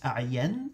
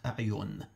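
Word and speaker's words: أعين: I'd like to point out the correct pronunciation of the name of Zurara's father is A'yan and not A'yun.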